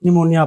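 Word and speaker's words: pneumonia: यदि पी के बाद एस या एन लिखा हो तो पी साइलेंट रहता है। For example S psychology निमोनिया यहां पी के बाद एस पढ़ा लिखा गया। इसीलिए इसे साइकोलॉजी पढ़ा गया। यहां पी के बाद एन लिखा इसे निमोनिया पढ़ा गया।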